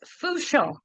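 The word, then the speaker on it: Fourchon: So, it's f Our r ho n, but it's pronounced fooon. So, I want to hear everybody saying it out there. Fong.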